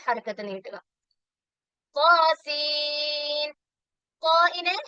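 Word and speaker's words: طس: ത്വാസീൻ. ത്വാഇനെ 2 ഹർക്കത്ത് നീട്ടുക. സീനിന് 6 ഹർക്കത്ത് നീട്ടുക. അതുപോലെ ത്വാസീൻ എന്ന് വേണം. ലാസ്റ്റ് സീൻ എന്നാണ്. സീം എന്ന് പറയല്ല. ത്വാസീം മീം പറയുന്നത് പോലെ സീനിന്റെ അവസാനം മീമിന്റെ ഉച്ചാരണം വരരുത്. ത്വാസീൻ എന്നാണ്.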